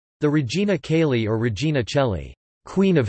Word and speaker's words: Regina Coeli: The Regina Coeli or Regina Coeli, Queen of Heaven, pronounced Redina Telli in ecclesiastical Latin, is an ancient Latin Marian hymn of the Christian Church.